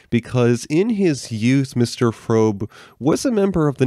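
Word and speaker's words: Fröbe: say the pronunciation is frobe it's one of those European names where the O has the dots over at the unlocked yeah mr.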